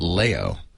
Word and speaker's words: Leo: me with his name, which is not Leo, but Leo. Mm-hmm. So I've spent Leo. Yeah, I've spent an entire time. Is that how you pronounce the constellation? No, it's some froggy idea. So I've spent my whole life embarrassingly having to tell people it's Leo, as in Mayo.